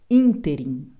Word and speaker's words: ínterim: única grafia correta no ínterim palavra proparoxítona por isso ela é acentuada Lembrando que todas as proparoxítonas são acentuadas neste ínterim Essa é a forma correta de pronunciar essa palavra proparoxítona com acento ínterim pentacampeão não se usa